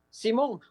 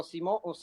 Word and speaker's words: Simón: Simón o Simon en inglés, pues como usted prefiera pronunciarlo. Mi nombre no es, del medio es, no es mi apellido.